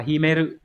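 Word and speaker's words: 秘める: Từ này đọc là Himeru, Hán tự là chữ bí, bí trong từ bí mật Himitsu đấy.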